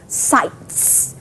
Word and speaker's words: sites: s sound so so if it's spelled s-i-t-e-s you should pronounce it as sights the s sound at the end okay okay all right